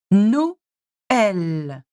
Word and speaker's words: Noël: You need to separate the O and the E. Okay, so Noël, Noël.